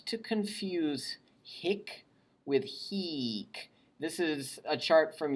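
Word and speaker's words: hīc: So one has a short I and the other has a long I. So make sure your ear keeps those two straight.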